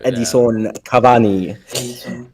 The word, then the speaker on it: Edinson Cavani: How's that pronunciation? It is, in fact, Edinson Cavani.